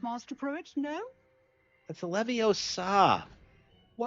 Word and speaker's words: Leviosa: It's Leviosa, not Levioso.